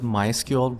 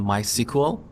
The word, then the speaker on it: MySQL: has a software product developers of this product prefer to call it MySQL rather than my sequel but they don't mind if we call it my sequel in this course I'll